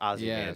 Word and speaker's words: Ozymandias: Ozymandias or how do you pronounce Yeah. it? I think it's Ozymandias.